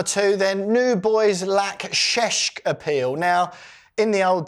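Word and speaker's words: Šeško: New boys lack sheshk appeal. Now, in the old days, and by old days, I mean at the beginning of last week's team talk show, we were pronouncing this ces Benjamin Cesco.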